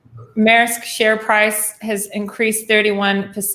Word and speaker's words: Maersk: return we spoke about that how do you pronounce that shipping company's name right maersk share price has increased 31 in the last